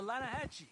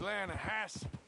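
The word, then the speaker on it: Lannahechee: no no no no no no the the Lana Hatchi it runs right near here yeah but it's pronounced Lana hasp why is everything in English said differently than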